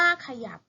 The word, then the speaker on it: ขยับ: อย่า และ ก็ อะ บ่ ขยับ อ่าน ว่า ขยับ เวลา เขียน ไม่ มี หอ ยี นะ คะ